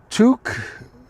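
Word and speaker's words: toque: We're teaching me Touque, which rhymes with fluke and it means beanie.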